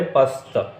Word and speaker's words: پست: ہے وہ ہے غرور۔ اسی طرح پست، پست، پست، تو صحیح والا جو ہے وہ ہے پست۔ شعور، شعور، شعور، تو